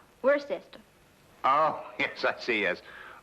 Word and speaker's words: Worcester: something else too dark but it's spelled w-o-i-c-e-s-t-e-r we're a sister oh yes that's he